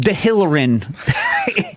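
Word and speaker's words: Dehillerin: If you go to Chez Georges, which you definitely should, go nearby to Ed Delrin, the cooking store. Yeah. Are they still open? Yeah. It's pronounced De Hillerin.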